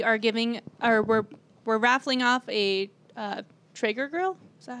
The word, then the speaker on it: Traeger: So we are we're raffling off a Traeger grill. Is that how you pronounce it?